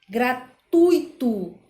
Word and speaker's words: gratuito: e não louis ou seja a gente deve pronunciar gratuito fortuito e fluido porque o assento a sílaba